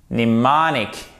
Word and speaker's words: mnemonic: Mnemonique et pas mnémonique. Ok? Mnemonique. Le M ici, on ne l'entend pas.